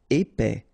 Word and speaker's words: épais: Épais, final S not pronounced, A-I together, épais, épais.